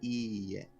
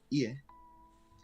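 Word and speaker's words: いいえ: Now, when you're saying no, mind that it has two e's. So it's ie. Every hiragana and katakana goes for a single syllable. So the e should be stretched out twice as long as the e. Because if you just say ie, that means house.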